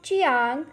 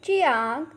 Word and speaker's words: jiang: The next Pinyin is Jiang, has a pronunciation of Chiang. Repeat after me, Chiang.